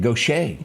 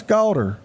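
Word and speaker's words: Gautier: you'd ever spell it goet go yeah g a u t i e r g o s h a y I'm we great who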